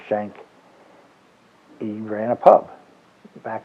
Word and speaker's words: Schenk: Germany, the name Schenk, we pronounce it Schenk. In German it's Schenke, but my family never pronounced it that way. They always just said Schenk.